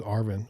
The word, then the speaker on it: Arvin: His name's Arvin, which rhymes with like RV.